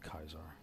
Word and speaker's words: Caesar: or Kaiser's Legion they some of them pronounce this the sea with a as a hard sea and so they come out with kaisar which I think is